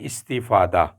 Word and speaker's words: استفادہ: گیا ہے وہ ہے استفادہ، یعنی پہلا جو حرف ہے اس کے نیچے زیر ہوگا، دوسرا ساکن ہوگا، تیسرے کے نیچے پھر زیر ہوگا، چوتھے پر زبر،